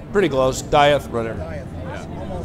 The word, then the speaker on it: Dieth: Dieth, runner. Dieth. Yeah. Think King's English. Dieth.